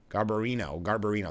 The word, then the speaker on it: Garbarino: And GOP Representative Andrew Garbarino, I'm not pronouncing that right, Garbarino, that's what it is, of New York, and